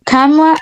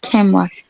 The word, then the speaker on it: camera: Camera or camera? Camera. It depends on your accent, right?